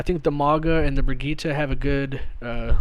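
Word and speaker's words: Brigitte: want to say it I think it's like brigita technically is how they say it in the game but uh I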